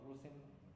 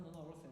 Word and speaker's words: Rusyn: When I say about Rusyn to people who speak English, Russian, no. Right, no. No Russian. They think that I pronounce it wrong. Pronounce it incorrectly.